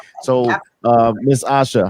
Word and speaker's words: Asha: but I tell people it's like Tasha without the T. So ASHA and then Janine JENEEN. Okay. So I was saying your name correct, Asha, right? Yeah, you got it. It's Okay. spelled and pronounced just like Tasha. There's just no T.